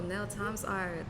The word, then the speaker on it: NELXART: No, Nel times art. The X is a multiplication NEL sign. times art.